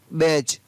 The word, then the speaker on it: badge: G, तो वहाँ पर D का उच्चारण नहीं होता है। जैसे BADGE, क्या पढ़ेंगे इसको, बैज, तो यहाँ पर D नहीं पढ़ा गया है, GE को ज पढ़ा।